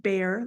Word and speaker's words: Beare: My last name is pronounced Beare, like the animal that lives in the woods, but we've got this silent E on the end here.